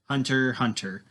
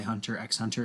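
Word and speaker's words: Hunter × Hunter: hope you didn't but it is hunter hunter which is the correct way to pronounce a lot of people say hunter x hunter and iran I promise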